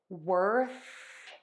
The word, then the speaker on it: worth: that means is that your larynx is not vibrating and it is not moving for that th sound worth worth worth now for